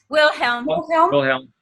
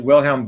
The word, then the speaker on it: Wilhelm: All right, so this is not a book for cursory reading, no more than is Richard, how is it pronounced? Richard? Wilhelm.